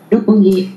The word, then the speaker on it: Roppongi: Roppongi. In Roppongi in Tokyo, I'll give you the English pronunciation.